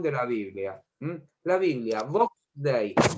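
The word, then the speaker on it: Vox Dei: La Biblia, Box Day, se escribe más o menos así. Box Day. Todo con mayúsculas. Box Day. Como suena y con X.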